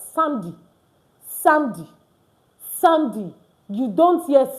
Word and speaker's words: samedi: Saturday is correctly pronounced as samedi.